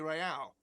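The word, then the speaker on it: réal: You owe me 130 real. What's Royale? Oh, excuse me. You owe me 130 real. Real. He pronounces the R with a mock aristocratic accent.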